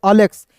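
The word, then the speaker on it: Alex: देखिए एलेक्स नहीं पढ़ेंगे। इसे पढ़ेंगे अलेक्स।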